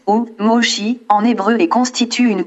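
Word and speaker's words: Moshe: En effet, le nom Moïse en anglais se prononce Moses ou Moshi en hébreu et constitue une piste intéressante dans notre recherche.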